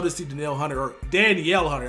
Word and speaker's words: Danielle: see danil Hunter or Danielle Hunter I don't know why I said Danelle his name is Danielle it spelled like Danielle Daniel Hunter be one